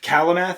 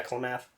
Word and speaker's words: Klamath: Kalamath is in Klamath? Yeah, Klamath.